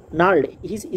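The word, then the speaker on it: gnarled: কি বলল হি strong নারি strong নার হ্যান্ডস মানে তার শক্তভক্ত শক্তভক্ত স্ট্রং মানে তো শক্তভক্ত বা শক্ত আর নাড হ্যান্ডস মানে হচ্ছে খসখসে হাত স্ট্রং না হ্যান্ডস এখানে জি উচ্চারণ হবে না হ্যা স্ট্রং না হ্যান্ডস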